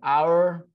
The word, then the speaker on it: hour: About ป ร ะ ม า ณ An hour ago.